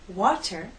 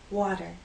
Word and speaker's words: water: Now let's talk about another way we pronounce T in American English. You've probably noticed that Americans do not say water, we say water.